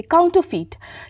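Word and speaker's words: counterfeit: feet काउंटर feet देखिए यहां पे जो आर होगा ना वो हल्का सा अ हल्का नहीं मतलब हल्का सा बोलना होगा साइलेंट है एक तरह से काउंट ऑ फीट ठीक है सीओ यू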